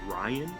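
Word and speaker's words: Rian: believe his name is pronounced Ryan yeah it's Ryan Johnson okay cool spelling r-i-a-n he announced that there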